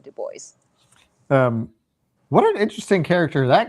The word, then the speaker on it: DuBois: How was it pronounced in the audiobook? It was Dubois. No, see, in my head, I kept calling it Dubois.